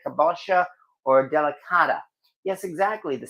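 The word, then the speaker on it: kabocha: I leave the skins on for am I pronouncing this right? Kabosha or delicata.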